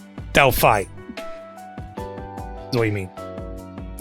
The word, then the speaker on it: Delphi: The name is pronounced Del Fly, but without the L. So you're saying like Delphi.